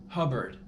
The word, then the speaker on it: Hubbard: dude that's his name Hubbard rhymes with cupboard also but that's not